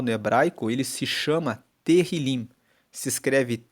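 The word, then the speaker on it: Tehilim: Tanto que o livro de Salmos, no texto original, no hebraico, ele se chama Terilim. Se escreve T E H I L I M e Terilim que significa louvores.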